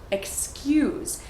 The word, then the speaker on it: excuse: So pay special attention to the Y sound that gets added even though there is no Y in the word excuse.